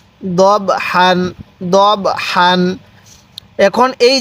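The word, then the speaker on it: ضَبْحًا: এই বা এর সাথে দব দত লাগবে এই বা এর সাথে দব অনেকে দাব পড়ি না এরকম ভাবে পড়বো না তাহলে কিভাবে পড়বো দবর দব হা আলিফ দুই জবর হান দব হান দব হান এখন এই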